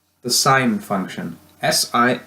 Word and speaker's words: sin: the short form for sine is si n please don't pronounce it sin when you're reading it out loud it's still pronounced sine okay so you've got